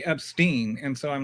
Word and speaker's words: Epstein: But then I heard one of the victims say Epstein. And so I'm like, okay, rhymes with spleen.